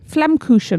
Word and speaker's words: Flammkuchen: Flammkuchen. Is that how we pronounce that?